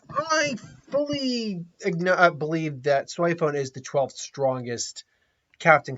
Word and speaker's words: Soifon: shinigami uh captain questionagami in my opinion is soy phone and that's really her name and the japanese